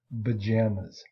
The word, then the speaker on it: pajamas: So for example, P, pajamas, the P sound is unvoiced, but it becomes B, voiced, and we say pajamas, pajamas.